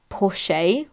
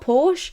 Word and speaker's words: Porsche: guy saying you know that's wrong it's actually pronounced pore how else do wait am I pronouncing it wrong is it not Porsche I just chuckled and said no he actually